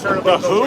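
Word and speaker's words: The Hu: I listen to a band called The Who, and it's spelled Hu.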